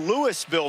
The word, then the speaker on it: Louisville: warren a sophomore from lewisville mississippi where they pronounce the s left guard just raises